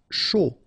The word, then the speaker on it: chaud: Chaud. Final D not pronounced.